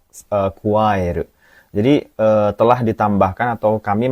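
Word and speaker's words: 加える: Ya, ini bacanya kuaeru ya minasang.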